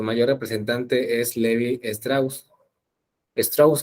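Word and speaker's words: Lévi-Strauss: Strauss, creo que se pronuncia Strauss.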